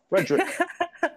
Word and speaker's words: Fraedrich: I've been afraid up to this point to pronounce. Fraedrich. Fraedrich, yeah.